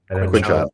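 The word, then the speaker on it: Quinshon: Quinshawn.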